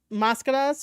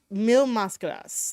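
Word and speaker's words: Mil Máscaras: hold on he uh the commentator here mentioned uh mascadas right and it's supposed to be a thousand mask that's how you would say it in English um it's mil mascaras like he mispronounced the first word of it it's mil mascadas and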